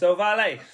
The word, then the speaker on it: Ohvale: Yeah, well, it's Italian, so you have to pronounce it properly. Like this. Yeah, with your hands. It's Ohvale.